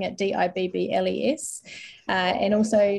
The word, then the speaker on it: DIBELS: looks at Foundation reading pronounced Dibbles to rhyme with dribbles um which I found has resulted in lots of spelling mistakes spelling it d-i-b-b-l-e-s uh and also not